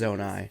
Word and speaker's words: Zonai: It is Zonai. These figures look like Hylians. I pronounced it correctly.